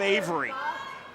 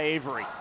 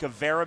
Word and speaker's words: Avera: from the bottom by avery no we're not doing bad pronunciations tonight i know it's spelled like a vera but it's pronounced avery i know it's spelled